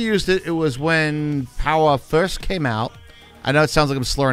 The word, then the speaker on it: Powah!: last time we used it it was when power first came out I know it sounds like